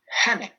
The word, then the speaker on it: hene: Il faut faire gaffe, c'est pas le H muet, on le sort hene.